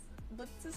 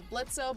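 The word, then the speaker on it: Blitzø: said like it was blitzo but I guess the O in his name is silent he dropped the O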